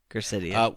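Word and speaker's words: Gracidea: Gracidia.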